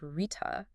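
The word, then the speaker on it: ṛta: Our next key insight takes us to one of the most foundational themes of the Yajurveda, the profound idea of Rekha, pronounced Rita, which signifies cosmic order or universal rhythm.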